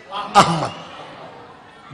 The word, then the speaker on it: احمد: تو میری جان اللہ نے ہمارے نبی کا نام احمد, احمد نہیں احمد یہ تلفظ کر دیں.